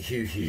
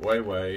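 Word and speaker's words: Huehue: Weiwei, that's how that's pronounced. Yeah, and it's considered one of the... I've been calling it Hugh Hugh.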